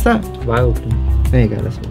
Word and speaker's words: Vileplume: How do you pronounce that? Vileplume.